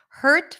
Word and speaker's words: hurt: let's talk about that hurt versus heart so the word hurt is a stir sound so there is no vowel there really we do pronounce the h her her her hurt hurt in for the word